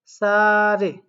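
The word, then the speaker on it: 사례: আছে তাহলে এসুফ এসুফ সারে এখানে কি বলবেন সা রে এটার উচ্চারণ কিন্তু এরকম হওয়ার কথা ছিল সা ঋ এ এরকম বা আমরা উচ্চারণ করব সা রে ঠিক আছে এরপর বলছে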